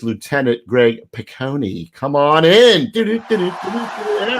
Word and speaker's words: Picconi: It's Lieutenant Greg Picconi.